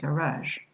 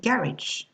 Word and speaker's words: garage: For example, if you take the word garage in French, right? In American English, it will be pronounced garage, garage, okay? While in British English, it will be pronounced garage, okay? Garage, the first syllable, see?